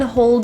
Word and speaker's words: hold: The L in hold is often difficult, so to pronounce this word, you're going to put your tongue tip right on the roof of your mouth and feel the contact.